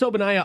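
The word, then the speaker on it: Ogbonnaya: yet no okay chris obanai is spelled with a og okay the g is silent so his nickname is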